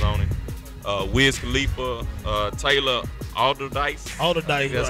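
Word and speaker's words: Allderdice: Wiz Khalifa, Taylor Alderdice. That's how you pronounce it.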